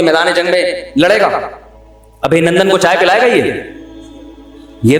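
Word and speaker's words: ابھینندن: ابھی نندن نہیں ہے، صحیح تلفظ کیا ہے بھائی؟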